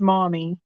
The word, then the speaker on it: Maumee: And that one's pronounced mommy.